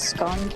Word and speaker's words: scone: call our biscuits scone but really it's pronounced scone need some trips Yes